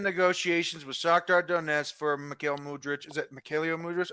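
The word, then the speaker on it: Mykhailo: Mikhail. Mikhail. Mikhail. Mikhail. Michael. His name is Michael. Michael in English.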